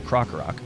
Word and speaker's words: Krokorok: Rool evolves into Krokorok. I never really knew that I was mispronouncing that until somebody commented on it in a video.